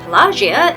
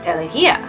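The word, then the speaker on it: Pelagia: As said, I learned from this movie that Palagia is actually pronounced pelia.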